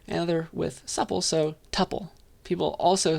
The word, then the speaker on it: tuple: two possible pronunciations uh one to rhyme with two pole so tuple another with supple so tuple people also say tuple